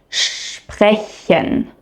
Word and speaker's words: sprechen: And instead of pronouncing SP as sp, you pronounce it shp. Here are some very common example words. Listen and repeat after me. Strasse. Sprechen.